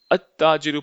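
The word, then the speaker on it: التاجر: अत्ताजिरु, अभी इसको हम अल नहीं पढ़ रहे, अब देखिए अत्ताजिरु पढ़ रहे हैं क्योंकि ये सब हुरूफ शमसी वाले एग्जाम्पल्स हैं।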